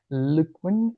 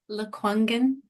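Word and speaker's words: Lekwungen: lives on the traditional territories of the sorry Luen I don't know if I pronounced that well sorry can you do it again? Luangen.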